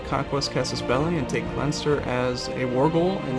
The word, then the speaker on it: Leinster: And then you can type Leinster, or Leinster, it's pronounced. Something like that.